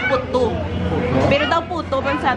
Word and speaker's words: puttu: Daw puto sa aton pero pronunciation puttu.